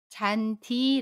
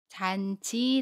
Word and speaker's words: 잔디: 극과 모음 e 가 만나도 잔디 라고 발음 해요 잔 지 라고 발음하지 않습니다 또 다른 해볼게요 동사